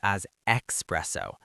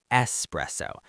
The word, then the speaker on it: espresso: Beginners often mispronounce this aspresso. There is no X. It's espresso.